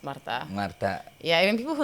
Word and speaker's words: Marta: It's Marta. Marta. Yeah, even people who know me like for like 10 years, they still hit me with, hey, Martha.